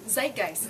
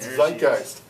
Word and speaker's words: Zeitgeist: Zeitgeist. Zeitgeist.